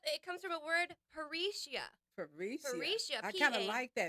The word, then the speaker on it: parrhesia: So there's a word called parrhesia, pronounced just like that, and that means free speech or to speak candidly.